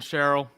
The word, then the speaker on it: Sherrill: Just say it like it sounds like you're just, your mouth is like eating peanut butter. And that way you get it right no matter what.